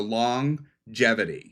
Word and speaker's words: longevity: little thing about longevity the G in longevity is pronounced twice once with the n as in long so there's a g